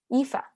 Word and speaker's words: Aoife: There was another question from Ify. I'm gonna say that wrong. I always get that name wrong. Aoife.